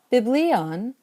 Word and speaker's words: βιβλίον: Biblion wants to keep an acute over the iota in the second to last syllable.